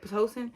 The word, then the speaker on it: Pitocin: That's how you say it, Pitocin, until the doctor came, and the doctor didn't come till like what, 8 o'clock that morning, next morning.